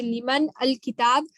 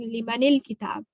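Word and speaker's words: لِمَنِ الكِتاب: Note that man becomes mani when followed by al. So this is just to join it. So it's easier to pronounce when we're saying, if we say liman al kitab, that becomes a little bit more difficult than saying limanil kitab.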